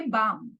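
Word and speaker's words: balm: right त्याच्यानंतर आहे एल बामच्या spelling मध्ये एल सुद्धा आहे पण तुम्हाला लक्षात आहे ना की मागच्या व्हिडिओमध्ये आपण काय शिकलो silent letters have no value so बाम मध्ये जरी एल असला तरी बाम मध्ये आपण बालम बोलत नाही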